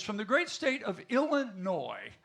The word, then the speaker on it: Illinois: The gentleman over there is from the great state of Illinois. The S is silent.